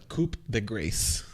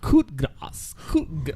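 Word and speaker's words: coup de grâce: No, this is written wrong, because even up here it says the coup de grace. That's what he hit on. That's Mahal. How you spell it, though.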